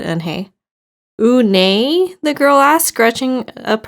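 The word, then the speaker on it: Unhei: your name a girl asked and hey said anhei the girl ass scratching up her face some kids chanted no no and they corrected is spelled u-n-h-e-i it's pronounced unai oh it's you hey the boy said like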